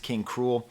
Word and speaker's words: King Krule: King K rool now I think it's actually pronounced King cruel I just read before